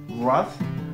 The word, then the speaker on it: wrath: Attention aux exceptions, par exemple, le A se prononcera A dans yacht, ou encore O dans wrath, et A se prononcera E dans Thames, any, ou encore many.